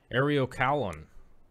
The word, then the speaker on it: Eriocaulon: Eriocaulon.